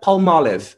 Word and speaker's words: Palmolive: Una marca americana que originalmente pronunciada como una mezcla de dos palabritas, palm and olive. Palm, palmera, and olive, oliva o aceitona. Así que tenemos la mezcla palmolive, palmolive. Pero la pronunciamos palmolive, palmolive, o en Brasil, palmolive. Chicos, llegamos al fin de nuestra clase.